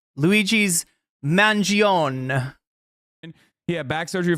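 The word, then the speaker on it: Mangione: it's called It's pronounced Manion the E is silent Luigi's mangion he had back surgery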